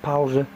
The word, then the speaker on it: Pause: Powza is spelled like pause.